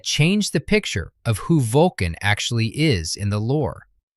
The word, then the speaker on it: Vulkan: The primarch's name is spelled v u l k a n. It's pronounced Vulkan, short u, hard k, Germanic root, the same linguistic family that gives us volcano, not Vulcan.